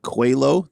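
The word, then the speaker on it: Coelho: there's a winery over that direction called uh cuello that's PR that's spelled c-o-e-l-h-o it's Portuguese for it's Portuguese for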